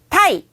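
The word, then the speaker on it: 鯛: 타이, 하이. 타이. 다시 한번 읽어볼게요. 타이, 하이. 타이. 네, 자, 요 타이는 제 맘대로긴 하지만 운율을 하나 드려볼까 해요. 넥타이의 타이랑 발음이 똑같죠?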